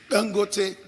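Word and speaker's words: Dangote: OK, vous le connaissez la bonne prononciation. Tangoté.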